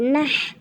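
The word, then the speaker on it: نَحْ: এই বড় হাটা উচ্চারণ করতে হবে হলকের মাঝখান থেকে বাতাস বের করে। না লাগবে হার সাথে নাহ, না লাগবে হার সাথে নাহ।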